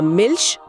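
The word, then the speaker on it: Milch: और अगर आई ई या किसी भी उमलाउट के बाद सीएच आता है तो ध्वनि बहुत हल्की श या हर जैसी होती है। जैसे इश मतलब इश या मिल्श मतलब मिल्चश इश मिल्श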